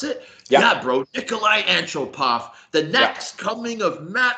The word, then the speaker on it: Nikolai Antropov: That's how you pronounce it? Yeah. Yeah, bro. Nikolai Antropov.